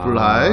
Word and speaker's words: 불하이: 브라이 안 됩니다. 아, 불하입니다. 불하이. 아, 예, 부사골 줄임말 불. 인사말 부사골 하입니다. 줄임말. 예, 브라이.